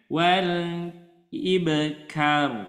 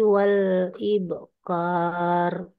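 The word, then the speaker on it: والإبكار: dibaca panjang siap Ustaz jadi Bacanya jangan Wal ibkar tapi w ahah panjangnya sama seperti ya siap ya silakan bu sekali lagi Bu Bil asii Bil asiyi Wal ibqar nah seperti itu jadi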